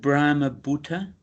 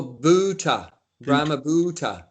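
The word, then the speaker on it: brahma-bhūta: i pronounce that word brahma butter is that how you pronounce it no it's more bhuta brahma so that's why it's got a line above the you so it's uh it's a long u buta ramabutta yeah self-realized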